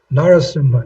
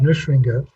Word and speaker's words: Narasimha: And we're pronouncing it Narasimha, not Nrsinga, but Narasimha, Narasimha.